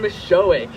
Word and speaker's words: Misiolek: Charles oh is here in spirit Thank You Michelle my last name is miss showing there we go it doesn't sound how it's spelled so I don't fault